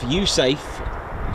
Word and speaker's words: USAFE: States Air Force in Europe pronounced USAFE. The letter E on United States Air Force stands for Europe.